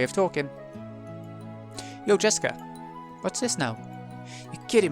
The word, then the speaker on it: Jessica: Anyway, that is pronounced Jessica.